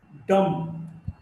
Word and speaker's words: dumb: Dumb, this B is not pronounced.